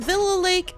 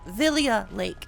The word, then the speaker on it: Villia Lake: information I will be changing the spelling from Villa Lake to Villia Lake because Villia lake is the proper pronunciation I will most likely